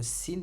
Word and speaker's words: س: Donc le sin, le point de sortie de la lettre sin, c'est comme le S en français. On prononce exactement de la même manière.